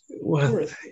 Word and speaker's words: Wirth: Diane, I have to learn to pronounce the second name. Worth. Okay. Worth. Yes. It's like W-O-R-T-H, except it's not. It's spelled that way.